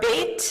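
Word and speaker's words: בית: Beth, or Beit, as we might pronounce it in Hebrew, means house or home, house of shalom.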